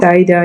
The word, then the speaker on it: Saeda: Her name is it Saida, if I'm pronouncing it well. Saida, yeah.